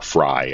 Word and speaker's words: Frey: It's probably the best one we've had so far, in that the mayor in Minneapolis, Jacob Frey, or Fry, I've heard his name said, it's spelled Frey, and then the police